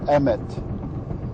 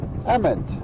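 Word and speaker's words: אמת: Tau and it's pronounced Emmett Emmett same as the first name of the main character in the new Lego Movie well Ament means truth and it's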